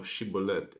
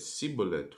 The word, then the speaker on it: Shibboleth: If he said, Nay, then said they unto him, Say now Shibboleth. And he said Sibboleth, for he could not frame to pronounce it right.